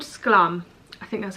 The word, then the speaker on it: Sklum: So it's called Sklum.